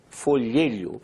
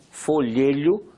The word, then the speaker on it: folhelho: Eles chamam esse gás que existe em rocha porosa, essa rocha eles chamam de folhelho. Eu sei que é difícil pronunciar, folhelho, mas é a palavra correta.